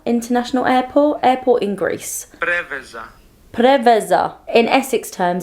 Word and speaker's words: Preveza: I'm trying to look up the pronunciation. Okay, it's Preveza International Airport. Airport in Greece. Preveza.